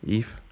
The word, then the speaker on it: Ib: Like, I really love Eve, the game Eve, the RPG Maker game Eve, written IB, but I guess pronounced Eve, like VE, because it has like this art gallery stuff where you can just look at artwork.